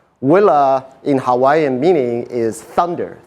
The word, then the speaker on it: Uila: L A pronounce as Willer it is a Hawaiian word Willa in Hawaiian meaning is